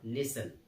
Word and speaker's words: listen: तो सिर्फ मैं बोलूंगा लिसन लिसन एल आई एस एल आई एस टी एन लिसन टी E silent in this word okay तो आपको बोलना